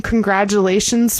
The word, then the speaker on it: congratulations: Yeah, the T in congratulations, we say like a J sound.